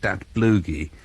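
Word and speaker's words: Datblygu: mispronounced last week, and apparently it should be something like Dat Bloogie.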